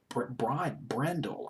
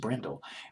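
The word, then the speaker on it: Bryndle: She was in a group called Brindle, B-R-Y-N-D-L-E, Brindle, I guess it's pronounced Brindle. Well, in this band, she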